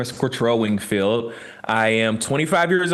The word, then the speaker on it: Cortrell: Most people are like Cortrell, they missed the R, but you was right on it. So you've done some practicing. Cortrell Winkfield is in the building.